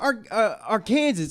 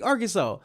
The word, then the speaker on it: Arkansas: It's not AR or Kansas. It's literally Arkansas."